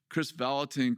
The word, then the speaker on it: Kris Vallotton: all of a sudden over the loudspeaker says, "Chris Valatin, come to the office." You know, my last name pronounced perfectly.